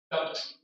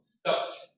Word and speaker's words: stopped: PED sound. For example, how do you say the word? Stopped. Bet? No. Stopped. Yeah, have to be like PT, right?